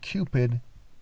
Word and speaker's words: Cupid: And the word Cupid is the word, it rhymes with the word stupid for a reason.